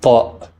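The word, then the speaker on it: ط: Next is ta, pronounced as a T coming also from deep in the throat.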